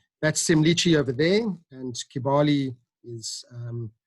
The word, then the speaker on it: Semliki: So for some reason, they pronounce the K's as a CH, so that's Kibale and Semliki.